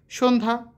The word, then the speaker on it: সন্ধ্যা: শেষে যুক্ত ব্যঞ্জনের সঙ্গে থাকা জ ফলের কোন উচ্চারণই হয় না যেমন সন্ধ্যা স্বাস্থ্য অর্ঘ ঠিক আছে র র বর্ণের উচ্চারণ